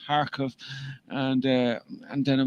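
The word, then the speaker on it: Kharkov: k was silent and it's pronounced harkov and uh and then it was going to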